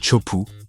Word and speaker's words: Teahupo'o: Le nom lui-même, prononcé Chopu, signifie crâne brisé en tahitien, ce qui donne une idée de la dangerosité du lieu.